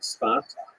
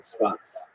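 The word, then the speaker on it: צפת: in the northern Israel city of saf pronounced in Hebrew spot or spot this is a remarkable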